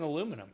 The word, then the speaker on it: aluminium: it is harder than saying aluminum no aluminium aluminium that sounds like condominium that's a big word